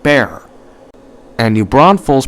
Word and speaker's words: Bexar: The X is silent, so it is pronounced bear.